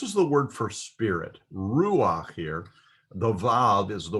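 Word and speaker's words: רוּחַ: exception to the rule normally we would pronounce the word uh ruach as a rue because the vowel should come after the vowel but when a patak comes underneath a head you pronounce the vowel first and then the consonant there are very few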